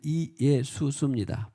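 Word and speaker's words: Ἰησοῦς: 원래는 헬라어로 이예수스인데 우리나라 번역으로 그냥 두 자로, 우리나라 말이 좋은 것 같아. 예수. 원래는 이예수스입니다. 발음을 풀로 풀어보면 이예수스인데, 예수라 하라.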